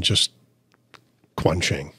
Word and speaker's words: Quansheng: How about Americanizing it to easily Americanized pronunciation, just Quansheng?